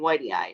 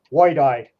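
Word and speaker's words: whitei: ask another question there why you pronounce it Whitey ey I look at it and it says white eye I don't I've always heard it said Whitey ey I don't know I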